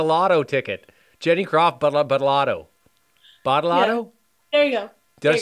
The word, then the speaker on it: Badolato: Badolato?